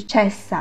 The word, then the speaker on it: cessa: 这里需要注意的是 cessa 的双辅音，当我们发双辅音的时候发音要稍稍延长一些，不能像单辅音那样发的短促，不然就会变成 cessa。